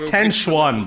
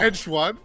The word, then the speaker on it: Tenchuan: going to be announced Tenchi just with the 1. Yeah, probably. 10-1, let me know. Yeah, it's Tenchuan, bro. Come on. Tenchuan. Say it as it's spelled.